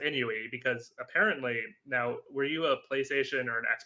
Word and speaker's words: INUI: So, Enoy. Well, Enoy. So, I've been calling it Enoi and I've been telling everyone, all of our broadcasters, I'm like, "Oh, yeah, it's Enoy.